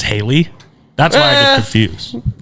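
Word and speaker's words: Halle: Haley Bailey, but it's spelled Hie. H A L L E. But she says Haley.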